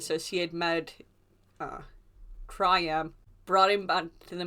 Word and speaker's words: Triam: me beating I think his name is pronounced triam it's t r i a m and so he